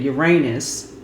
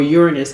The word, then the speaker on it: Uranus: We just had the Fool card, which is the planet Uranus, or Uranus, however you want to pronounce it, just went station direct, right?